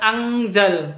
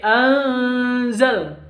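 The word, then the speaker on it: أنزل: Cara bacanya anzal. Jadi bukan angzal tapi anzal. Gak jelas atau samar, seperti itu.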